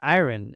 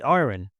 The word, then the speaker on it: iron: Be careful of the pronunciation. I made a whole video about that. This is not an iron. In British English, we say iron.